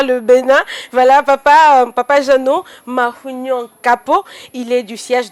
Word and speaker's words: Mahugnon: Mahunyo, je bien prononcer? Oui, vous avez bien prononcé. Mahunyo, ça veut dire quoi déjà, papa?